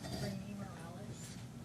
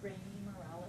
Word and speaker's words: Rainey Morales: Rainy Morales. I'm sorry? Rainy Morales. Can you spell it for me, please?